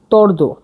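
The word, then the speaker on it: tvrdo: মানে হালকা এবার পড়ছি শক্ত শক্তকে বলছে হচ্ছে তর্দ তর্দ মানে হচ্ছে শক্ত টি টি এটা ভি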